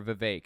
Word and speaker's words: Vivek: that agree with Trump, like Vivek Ramaswamy, or Vivek is how it's pronounced, Vivek Ramaswamy, or anybody else?